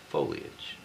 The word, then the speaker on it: foliage: And she says, "The correct pronunciation is foliage."